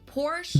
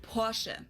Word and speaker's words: Porsche: I've heard Americans pronounce it Porsche or Porshe. In German, we say Porsche. So, there's like this short e sound in the end, Porsche.